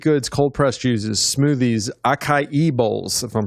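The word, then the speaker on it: açaí: They offer up a variety of baked goods, cold pressed juices, smoothies, acai bowls, if I'm pronouncing it. No, acai.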